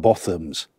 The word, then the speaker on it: Botham's: It's pronounced Botham'S.